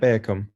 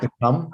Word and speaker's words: Beacom: Is that Bearcom? Beacom. Is that the project? It's pronounced become.